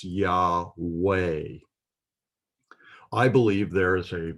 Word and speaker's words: Yahweh: Vav in Yahweh, and modern Hebrews pronounce that name, if they pronounce it at all, they pronounce it as Yahweh with a V sound. If it's pronounced with the W sound, then it's Yahweh.